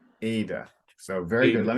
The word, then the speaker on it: Ada: yeah, remembering that in English the emphasis is up front instead of Ada. Ada.